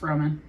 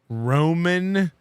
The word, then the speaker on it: Roman: Their two they just living it up because it's French, you know, so they don't really pronounce the N.